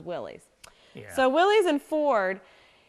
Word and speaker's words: Willys: licensed to Ford and, now I'm going to pronounce this wrong, is it Willys? Yes. Or I've heard it the other way too, and I think It's Willys. I always thought it was Willys.